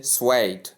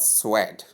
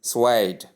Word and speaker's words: suede: We say swayed and not swed sentence. Some even call this word suit as the case may be based on the spelling.